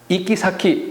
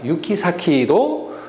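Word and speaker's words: 行き先: 또 하나는 우리가 두 가지로 쓸 수 있습니다. 이키사키라고 하는데 보통 이쿠라는 동사를 이키로 할 수가 있겠죠. 그래서 이키사키로 하는데 유키로 해석을 많이 발음합니다. 유키사키도 해석을 하니까 틀린 표현이 아닙니다.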